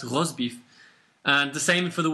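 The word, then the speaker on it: rosbif: spelled completely differently but it's uh but it's pronounced Ros beef and the same for the word Bulldog Bulldog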